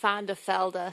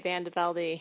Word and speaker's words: VanDeVelde: Well, in Belgium, they say VanDeVelde. So Mary's correct in American, but my family chose to say VanDeVelde.